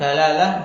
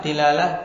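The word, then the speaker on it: دلالة: dalalatan dilalatan dan dulalah dalalah ada tiga cara baca yang disebut mutsalatah Jadi boleh kita membaca dengan tiga harakat dalalah dilalah dulalah kalau bahasa Jawa dilalah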